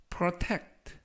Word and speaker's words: protect: 이번 표현은 protect, protect, protect 라고 발음하시면 되겠고요. 이번에 강세는 알파벳 E에 강세가 있습니다. 그래서 protect 라고 발음하시면 좋겠고요.